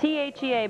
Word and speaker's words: Thea: Thea oh great thanks t h EA but you pronounce it Thea the for 24 hours